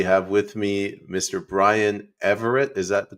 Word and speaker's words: Everaert: payman escari we have with me Mr Brian Everett is that the correct correct pronunciation y y all right uh Brian we